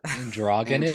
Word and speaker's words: androgynous: How'd you pronounce it? Androgynous. Androgynous? It's androgynous. Androgynous? Oh, I mispronounced the G.